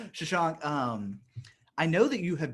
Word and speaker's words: Shashank: Um, I keep Shashank. There I you go. keep saying it wrong. Shashank.